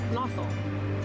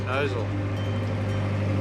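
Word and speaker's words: Gnosall: You just said you don't say the G. Yeah, I didn't say the G. Yeah. Nossal, Nozzle, comment below.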